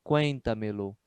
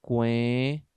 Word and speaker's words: cuéntamelo: Fica dessa forma, ó, cuéntamelo, formando com o verbo uma única palavra. Não se usa hífen. É por isso que vai dar uma quarta sílaba tônica, né? Por causa da junção de dois pronomes. Ó, cuenta-me-lo. Você tem aqui uma quarta sílaba tônica. Cuenta.